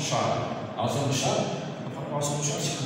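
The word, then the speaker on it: Chasles: Ça se prononce Charles.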